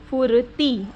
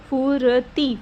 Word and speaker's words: फुर्ती: उच्चारण में पहले आएगा सूर्य फुर्ती आप ध्यान देना मेरी बात पे फुरती फुर्ती तो ये र पहले आएगा त ती बाद में बोलेंगे निर्भर निर्भर अब यहां